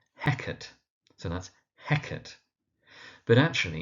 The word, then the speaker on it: Hecate: But actually, in terms of how her name is pronounced more generally, in terms of mythology and culture, it's Hecate, Hecate, or actually, if we turn to the Greek, it's Ekate or Ekate.